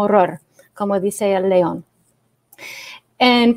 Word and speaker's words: ROR: conocido como héroe rey y lo que se pronuncia como horror como dice el león